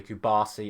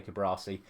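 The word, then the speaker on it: Cubarsí: also have cuasi injured I can never say his name properly cubasi I always want to say cuasi he went off the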